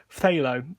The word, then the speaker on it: phthalo: it's actually pronounced phthalo so it's an f and then a th very close together phthalo it's almost like the